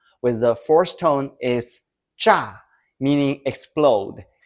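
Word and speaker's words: 茶: Let's try some syllables with cha with the second tone is cha meaning tea.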